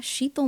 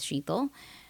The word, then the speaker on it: Shital: late in life that it's a lot easier to help people pronounce my name if I rhyme it with something. And someone told me lethal rhymes with shethal.